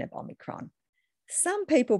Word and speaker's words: Omicron: Well, as you know, Omicron is a Greek letter, so let's ask my Greek friend how it should be pronounced. Omicron.